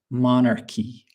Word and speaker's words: monarchy: So, here the pronunciation is quite different. We say monarchy in English.